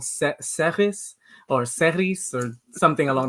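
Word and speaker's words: Serris: but it's called SE seris or seris or something along those lines but it's sarus it's spelled s e r r i s and that's the city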